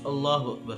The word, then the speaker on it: اللہ اکبر: اللہ اکبر، یہ دونوں غلط تلفظ ہیں۔ درست تلفظ اللہ اکبر ہے۔ اللہ اکبر اس کا ترجمہ ہے کہ